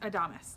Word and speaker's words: Adamas: So it's pronounced Adamas.